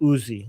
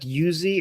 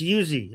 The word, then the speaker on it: Uzi: First of all, the person in the chat saying it's not yuzi, it's uzi. Well, in Persian it's yuzi. Okay. I'm not I'm pronouncing it based on the Persian version of it. So yeah, you guys say Uzi.